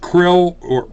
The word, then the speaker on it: Krll: Krill, KRLL or KRLLL or CRL or CRLLL, pronounced Krill, was the hostage left